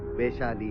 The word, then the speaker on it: वैशाली: अरे क्या रे तुम नॉर्थ इंडियंस, कैसा प्रोनाउंस करते हैं? वैशाली, वैशाली बोलो, वैशाली, वैशाली, वैशाली।